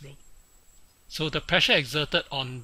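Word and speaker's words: rho: liquid is row okay pronounce as row so the pressure exerted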